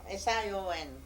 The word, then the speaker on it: Sion: Sioux, I would say, but you pronounce Sioux. Yeah. Notre Dame. No, S-I-O. S-I-O-N.